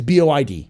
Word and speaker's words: boid: It's BOID. It's how it's spelled. The boid is spelled BOID.